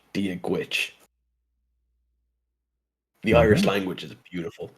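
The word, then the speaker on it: Dia duit: And you're probably thinking to yourself, "Oh, that's pronounced dia do it." And it's not it's the first word is dia, but the second word is not pronounced with a G sound. It's or with a D sound. It's pronounced with a G sound for Gwitch.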